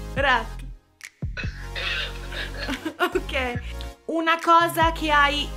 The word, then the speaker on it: Fırat: Come si legge? My name is Farat. Farat?